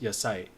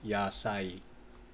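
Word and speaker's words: やさい: she speaks Japanese and at first when I didn't know how to pronounce this properly I thought it was just your sight so the sa and E would be kind of like um group together but you actually want to pronounce each of these separately yasai okay so things um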